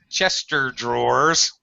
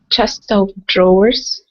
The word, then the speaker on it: chest of drawers: Do not say Chester drawers. Who says that? Nobody says that. Okay, Julietta, what should I say? Chest of drawers.